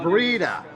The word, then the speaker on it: Breda: Yeah, and it's pronounced Breda. You have to say it with an Italian accent.